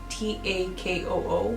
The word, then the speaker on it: Takoo: His name was Taco. I believe that's how you pronounce it. It's Takoo.